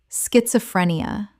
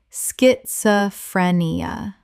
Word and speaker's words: schizophrenia: Word 68, schizophrenia. Common mispronunciation, schiz-o-phre-ni-a. Correct pronunciation, schit-zo-phre-ni-a. The s-c-h makes a sk sound. Five syllables.